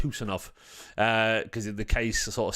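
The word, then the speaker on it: Khusanov: Kusanov's coming in. Or apparently it's pronounced Husanov, because the case is sort of silent.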